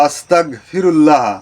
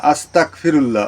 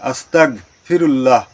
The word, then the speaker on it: আস্তাগফিরুল্লাহ: অর্থাৎ এর উচ্চারণটা হবে আস্তাগফিরুল্লাহ অনেকে বলে আস্তাগফিরুল্লাহ আস্তাগফিরুল্লাহ বলতে এর অর্থটা অন্যরকম হয়ে যায় যে আমি কাফের হতে চাই ক এর মতন হবে না গ এর মতন হবে উচ্চারণটা আস্তাগফিরুল্লাহ সম্মানীয় দর্শক শ্রোতা আশা